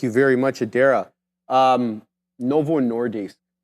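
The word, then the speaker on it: Novo Nordisk: very much Adera um Novo nordis I want I say dis because Adera told me how to say it properly um Adera they're Danish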